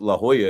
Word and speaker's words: La Jolla: insult my intelligence because I didn't know La Jolla out in California was, pronounced La Jolla.